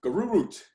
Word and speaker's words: Garurut: I can never say it right because it's another language. It's Garurut.